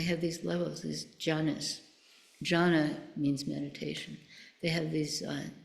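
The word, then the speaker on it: jhāna: Jhana means meditation. They have these, it's spelled Dhy, but it's pronounced jhana.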